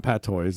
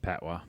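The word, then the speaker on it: patois: it's in Jamaican pys but that's it's not Pat toys it's like oh yeah it's pronounced pwa yeah pwa okay I was like I was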